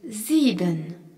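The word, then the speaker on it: sieben: Le nombre 7 se dit zen. S I e b e n zen. On y retrouve le s suivi d'une voyelle en début de mots qui se prononce the ainsi que le i prongé par un e qui est un i long.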